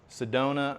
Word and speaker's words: Sedona: Sedona rhymes with Arizona.